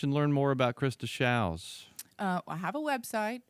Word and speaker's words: Shows: learn more about Christa showels I have a website it's wwws to show calm showers are spelled like shows SH OWS but rhymes with cows and Krista spell with